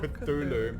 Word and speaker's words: Cthulhu: Cthulhu. It's called Cthulhu. Cthulhu. Fine then. I'm and I pronounce things properly.